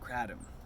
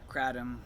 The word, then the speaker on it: Kratom: This is George, and in this video I want to talk about Kratom and using Kratom or Kratom. Some people pronounce it Kratom, whatever.